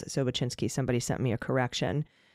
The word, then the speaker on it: Sobocinski: So just to name a couple here, we have, of course, Sobocinski, excuse me, however, I feel like you pronounce it Sobocinski.